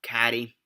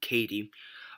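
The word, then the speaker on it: Cady: about this girl called caddy or Katie sorry I believe I believe was they pronounced Katie um and basically she's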